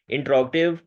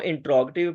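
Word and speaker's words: interrogative: अच्छा, ये लफ्ज़, इसको इंट्रोगेटिव पढ़ना है, इंटेरोगेटिव नहीं पढ़ना। स्पेलिंग इसके इंटेरोगेटिव जैसे लग रहे हैं, लेकिन इसका जो सही प्रोनाउंसिएशन है वो है इंट्रोगेटिव, इंट्रोगेटिव, इंट्रोगेटिव सेंटेंसेस क्या है?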